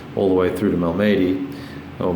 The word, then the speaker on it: Malmedy: push Piper forward all the way through to Malmedy, or Malmedy, depending on how you'd like to pronounce it, and capture that hex.